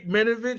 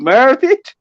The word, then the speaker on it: Maravich: Pete Minovich. How you say his name? Yeah. Tony Parker. Pete Maravich.